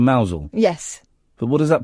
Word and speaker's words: Mousehole: So if they say Mousehole instead of Mousel?